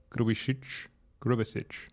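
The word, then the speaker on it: Grubišić: Is it Grubisic or Grubisic? Grubisic. Okay, good memes.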